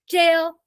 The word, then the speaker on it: Gaol: want to get technical, the Gaol, because it started with a G back in the day, which was just pronounced jail anyways.